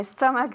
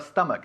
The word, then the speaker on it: stomach: Yes, yes, my stomach felt queasy a few days ago. Good, me encanta cómo pronuncia Carmen la palabra stomach. Si dice stomach, está abriendo la boca hacia abajo, stomach y no stomach.